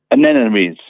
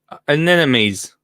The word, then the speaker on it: anemones: Anemones. Anemones.